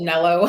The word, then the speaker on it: Nello: I pronounce it Nello. That's how I would, even though I know he's French, so I don't know how he would say it.